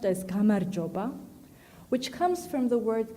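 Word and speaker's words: გამარჯობა: A simple hello in Georgian is pronounced as gamarjoba, which comes from the word gamarjueba, meaning victory.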